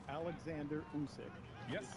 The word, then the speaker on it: Usyk: It's Alexander Usyk. Yes. Is how you pronounce his name.